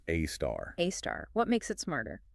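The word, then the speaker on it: A*: Often pronounced AAR.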